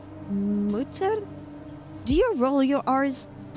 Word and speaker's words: Mutter: The U is pronounced as U in boots. Mutter?